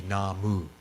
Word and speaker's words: namu: writings right but the the technically correct pronunciation would be namu right that kanji for